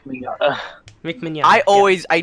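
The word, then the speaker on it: Mignogna: controversy surrounding uh Vic Manana um and it is UN that actually how you pronounce his name yes yeah you you pronounce his name Vic minata Vic minata I always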